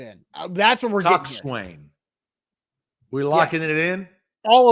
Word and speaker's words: coxswain: Is it spelled like this? Coxon? Yes, that is how it's spelled.